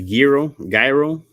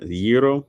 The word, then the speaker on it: gyro: You don't pronounce gyro. Oh, like that. Gyro. Gotcha. So what's the G there for?